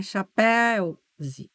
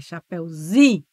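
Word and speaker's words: chapeuzinho: Mas a sílaba tônica é o zi, não é chapéu-zi. Chapéu-zi. É chapéuzinho.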